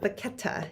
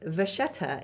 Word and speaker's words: Vachetta: It is French. It is not Pochette. It is not Pochette. Those are other pronunciations in like German and English, but Vachetta is how you say it in French.